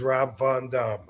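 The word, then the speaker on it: Rob Van Dam: my word for that and the question was have we've been saying it wrong all this time actually the real answer to that yes seriously the name that I was given was Rob Von Dum what y believe it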